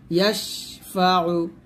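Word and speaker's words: يشفع: ইয়াশিন জবর ইয়াশ, ফা জবর ফা, ইয়াশফা, আইন পেশ উ, ইয়াশফাউ, ইয়াশফাউ, ইয়াশফাউ।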